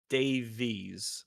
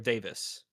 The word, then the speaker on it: Davies: Reese John Re John Reese Davies or Davis Davies Gim I think it's Dave that one's actually difficult because uh different people in Britain pronounce it both ways so but Reese is definitively Reese.